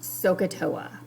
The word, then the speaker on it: SOHCAHTOA: you to write down and the acronym is pronounced socatoa so i want you to start with capital